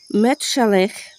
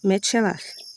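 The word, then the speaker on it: מתושלח: Vayechi Metushelach que nós conhecemos como Matusalém, ou Metsalém, outra pronúncia aí, o Metsulá, enfim.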